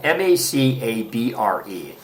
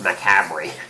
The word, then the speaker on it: macabre: It's spelled M-A-C-A-B-R-E. Looks like it's pronounced macabre, but it's actually macabre.